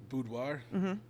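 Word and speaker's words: boudoir: Uh budoir, that's how you say it. Yeah. I'm not smart. Uh you don't just do budwire.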